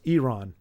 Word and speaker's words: Iran: know how peach is a factor in it's pronounced Iran what did I call it oh Iran I